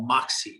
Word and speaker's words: Moxy: is something we call moxie and it's spelled m-o-x-y and we call it moxie for two reasons one